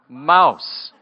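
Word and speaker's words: Maus: we were almost related her last name is spelled PA us and pronounced house and my last name is ma us MA us pronounced mouse mouse and palace you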